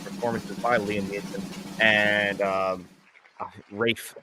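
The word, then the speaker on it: Ralph: A lot of handheld stuff in there, and you also get great performances by Liam Neeson and Rafe Fiennes, as that's how you really pronounce his name.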